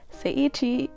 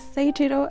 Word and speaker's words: Seiichiro: And Seiichi, I feel like I just got his name wrong. So I did got his name wrong. His name is Seiichiro. I think the first time I said it correctly.